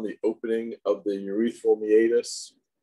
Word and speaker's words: meatus: the ates is called m-e-a-t-u-s it looks like meat us you want to say meet us it is pronounced meatus